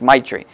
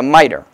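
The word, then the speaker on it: mitre: miter or my tree I always tend to always just say it how it is my tree but it's a miter um and it was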